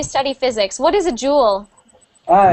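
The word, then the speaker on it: joule: pronunciation Jewel Jewel so remember that this one is not supposed to be pronounced like je je we pronounce that just the same as Jewel Jewel jeel Jewel and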